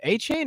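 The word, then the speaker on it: Achane: It's Achain or they said but are you going to are you you looking to draft him?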